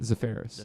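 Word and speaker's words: Zaferes: Zafaris.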